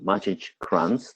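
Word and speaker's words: Maciej Kranz: chanced upon this book and an email by magic grunts that's how you pronounce the name who is one of the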